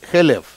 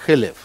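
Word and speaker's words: חֵלֶב: Или, значит, что нужно на жертвенник ложить хелев, да, жир. Но в Торе нет огласовок. И халяв, молоко, пишется точно так же, как хелев.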